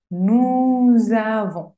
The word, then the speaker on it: nous avons: Nous avons. Y suena un poquito z, z. Nous avons. La S final no se pronuncia.